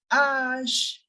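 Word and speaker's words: hache: French as G and H will be pronounced as Ash g s g h s h sound exists in English in French you will never hear the sound of it is Ash H is pronounced as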